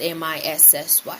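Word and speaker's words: Mici: but I prefer that you call me Missy. Missy is spelled M-I-C-I and pronounced M-I-S-S-Y.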